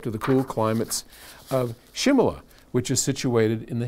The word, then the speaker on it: Shimla: writing from Simla India now also called and pronounced Shimla Oh thank you which many will recall was